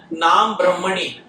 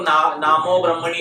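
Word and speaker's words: नाम ब्रह्मणि: में विश्वास नहीं बैठता नाम ब्रह्मणी नाम ब्रह्म में कुछ लोग नामो ब्रह्मणी इस तरह गलत उच्चारण करते हैं सही उच्चारण है नाम ब्रह्मणी नाम ब्रह्म में भगवान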